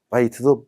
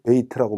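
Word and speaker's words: بيت: 아이가 되는 것은 라이사, 여기도 아모음이 있고 야의 모음이 없는 못이 나왔으니까 라이사, 카에르, 바이트도 베이트라고 많이 읽습니다.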